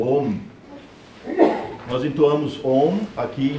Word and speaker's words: Om: e se lê om nunca se pronuncia a um a pronúncia é sempre om e por De onde